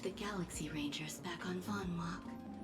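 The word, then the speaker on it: Vonwacq: what happened to the Galaxy Rangers back on Vonwok? That's how you pronounce that? I've said like von von witch for some reason whenever I see this word. Vonwok. Vonwok.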